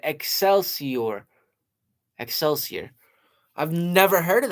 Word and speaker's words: Excelsior: Oh, excelsier. That's how you say it. Excelsior.